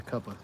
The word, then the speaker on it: cuppa: That's how they say it in the UK. If you get the tea, it's a cuppa Really, a cuppa? because it's a cup of tea.